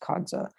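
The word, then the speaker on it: qada: called the kadza type which is spelled q-a-p-a kadza it's pronounced kadza and uh this prop this type of salat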